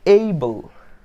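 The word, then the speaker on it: able: অ্যাবল কিন্তু ভুল উচ্চারণ, তো কারেক্ট উচ্চারণটা আসে এইবল, এইবল, ঠিক আছে?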